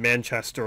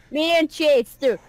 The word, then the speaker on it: Manchester: So They really put emphasis on the man.